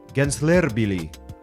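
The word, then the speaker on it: Gençlerbirliği: namely uh oh guys brace yourselves for this pronunciation Gensler Billy not the worst right I definitely had to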